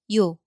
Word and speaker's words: 요: And one more short strokes again. It gives yes sound. So this one, O becomes 요.